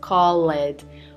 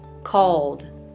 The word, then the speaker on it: called: please do not pronounce call it or clean it the e is not pronounced in those verbs called cleaned got it now